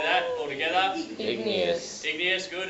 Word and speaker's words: igneous: Igneous. Igneous, good. It's not igneous, it's just igneous, so we flow through it.